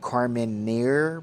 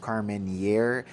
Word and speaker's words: Carmenere: I'm your host JW, and today we have a bottle of Carmenere, spelled Carmenere, spelled like Carmenere, but it's pronounced Carmenere.